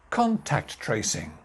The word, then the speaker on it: contact tracing: And finally, contact tracing. Contact tracing. 4 syllables. Contact tracing. Main stress here, contact tracing.